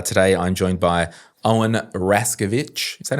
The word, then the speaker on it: Raszkiewicz: And uh today I'm joined by Owen Rascovich. Is that how I pronounce it?